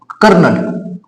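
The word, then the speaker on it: colonel: पोकळी किंवा हे स्पेलिंग बऱ्याच वेळा लक्षात बघा कर्नल उच्चार स्पेलिंग कर्नल अस स्पेलिंग आहे लेफ्टन असेल अस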